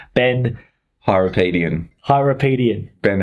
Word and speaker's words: Hyrapietian: We are in the studio today with, now, possibly the hardest name to pronounce, Ben Hyrapietian. Hyrapietian.